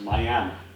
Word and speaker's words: Miami: So now we go to Miami, Oklahoma, spelled just like Miami, Florida, but pronounced Miami.